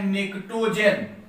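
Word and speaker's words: pnictogen: इसे कहा जाता है आपका पी साइलेंट है, इसे कहा जाता है निक्टोजन।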